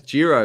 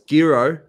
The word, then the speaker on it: Giro: but um craig willis you can't pronounce jiro it's gyro and the vault i